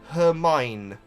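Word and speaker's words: Hermione: the name that that's actually quite straightforward to pronounce yeah cuz it's almost phonetic isn't it her mine well I would I her mine is is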